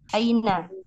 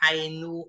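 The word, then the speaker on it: أين: Aina, Iya, aina. Mungkin nggak dibaca ainu atau aini.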